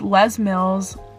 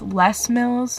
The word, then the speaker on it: Les Mills: i am obsessed with les mills okay i say it wrong it's less mils but i say les mills but whatever yeah les